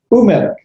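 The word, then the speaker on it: וּמֶלֶךְ: So melek becomes umelek. Remember, a shava is not a vowel with the two dots underneath it. It is a sound. So the first one would be bahaish. The second one, umelek, that vav with the dot in the center is a shirk. A shirk is a letter vowel. So you're only pronouncing the vowel. So it's umelek.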